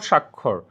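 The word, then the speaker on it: স্বাক্ষর: রাখবা দেখো আমাদের লাস্ট দেখো সাক্ষর সাক্ষর দেখো দুইটাতেই উচ্চারণ আমরা সেম করতেছি বাট বানানটা ভিন্ন একটাতে বফলা আছে অন্যটাতে কি নাই বফলা নাই শব্দজোড়ের মধ্যে মিল কোথায়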